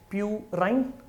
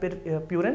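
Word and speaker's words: purine: तो we have total nitrogenous bases and 2 parts, we have प्यूराइन, पिरिमिडाइन या प्यूरिन या पिरिमिडिन, pronunciation पे depend करता है।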